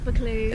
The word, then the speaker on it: Buccleuch: So as we just said, Buccleuch. Buccleuch. That is how you say it, guys. From a true Scottish person, it is Buccleuch.